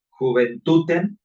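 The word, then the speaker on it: juventutem: Hay que ver ahí otra, por ejemplo, la palabra juventuten, la J se pronuncia como I latina, ¿no?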